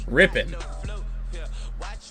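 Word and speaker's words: Rypien: Is it like Ripien or Ripien or what is it? Ripien? Who fucking knows? Rippin. Brett Rippin. That's how you say it.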